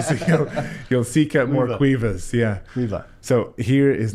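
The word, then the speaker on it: Caoimhe: Call me. No, it's a good attempt. Have you come across it? It's Quiva. Quiva, yeah. Oh. Quiva. That's the first time. Okay, so you'll seek out more Quivas, yeah.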